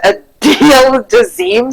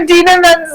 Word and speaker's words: Idina Menzel: Smith Nunn wrote, did she go to the Adele Dazeem School of Name Pronunciation? Yeah, when dumbass Jackson went to Adele Dazeem for what's her name from Frozen? For Idina Menzel.